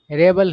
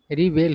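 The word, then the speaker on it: rebel: word है रेबल देखिए इसका उच्चारण दो तरीके से किया जाता है मतलब यह जो वर्ड है यह नाउन भी है और वर्ब भी है तो नाउन के रूप में इसका उच्चारण रेबल होता है ठीक है ना और वर्ब के रूप में इसका उच्चारण रिवेल होता है ठीक है ना तो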